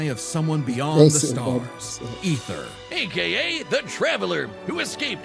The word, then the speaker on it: Aether: So, I mean Ether because the A is silent.